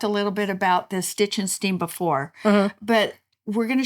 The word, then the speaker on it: Stitch & Steam: We just didn't want one big brown blob there, so we decided we'd get some stitch and seam. Okay. Did I say it right? Yep. Stitch and Steam.